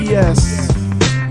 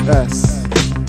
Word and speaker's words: Es: still getting it wrong it's not a yes it's us that's it say my name right i guess you could